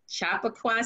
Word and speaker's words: Chappaqua: for that name is it how do you pronounce that chappaqua chappaqua central school district and that is in new